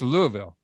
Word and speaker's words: Louisville: said it right louisville i got her it's louisville yeah all right all right so so i